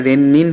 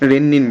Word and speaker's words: rennin: double N को बहुत ज़्यादा ध्यान देना, इसमें रेनिन होता है, इसीलिए मैं कहता हूँ कि इसको प्रोनाउंसिएशन में ही आप रेनिन बोलो, ना कि रेनिन बोलो, क्योंकि अगर आप